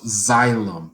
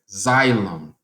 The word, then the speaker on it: xylem: there's these little holes alright we call those xylem that is spelled X as an x-ray Y L e M as in monkey alright xylem X Y L e m and believe it